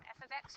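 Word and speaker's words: f(x): function notation right here when I wrote him F ofx just means y it means the output when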